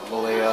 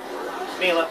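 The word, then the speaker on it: Millia: Malia, or Mila, whatever the hell everything thing says. That's how it's pronounced. Mila, you're right.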